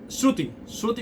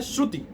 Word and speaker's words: श्रुति: को शरारत कि किसके किसके लिए सूती-सूती बोलते हैं वेदों को शास्त्रों को स्वस्थ मतलब जो अश्वटिक किसी का नाम होता है श्रुति श्रुति बोल देते हैं लेकिन उसका शुद्ध उच्चारण है श्रुति श्रुति मतलब जो श्रवण